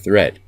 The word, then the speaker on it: threat: don't call it deed watch out for meat and great and threat they rhyme with sweet and straight and dead a month is not